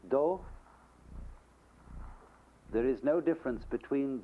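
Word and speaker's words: 道: Because there is in Chinese philosophy no difference between the Tao, that is the word T-A-O, in Japanese do.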